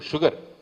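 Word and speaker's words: sugar: షుగర్ ఈజ్ the only word in English where if S and U are together, we pronounce it as shu.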